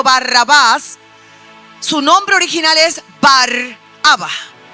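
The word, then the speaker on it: Barabba: Nosotros lo conocemos como Barrabá. Esa es la pronunciación conforme a nuestra traducción bíblica, Barrabas. Pero el nombre original es Baraba.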